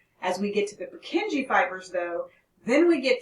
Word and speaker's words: Purkinje: are the purkinje fibers it's always sort of interesting to watch how students like to say for kinji i've heard students say per junkie i don't know how you get there but no purkinje now here's how i